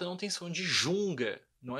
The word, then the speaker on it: Junge: Eu pronuncio G, eu falo Junga, não Junge, tá? Junga. Ok? Isso é importante. O som do G, sempre G.